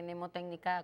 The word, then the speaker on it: mnemotécnica: como verán en pantalla se escribe mns aunque se dice nemotécnica con esta de la ms inicial que viene en nuestra